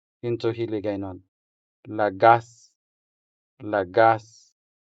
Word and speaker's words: lagas: This translates as lagas into Hiligaynon. Lagas. Lagas. The stress falls on the second syllable, making the second a sound longer than the first a.